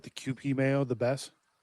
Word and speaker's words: Kewpie: It's k e w p i e. QP.